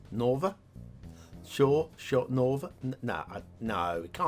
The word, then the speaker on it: Nova: pronunciation at the bottom local pronunciation guide for english speakers n-o-h-v-a as uh open o as in shore so nova nova buzz i'm going